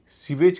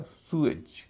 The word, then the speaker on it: sewage: इस तरह SEWAGE, इसे भी सीवेज कहते हैं हम लोग, उसका उच्चारण होगा सुएज, सुएज।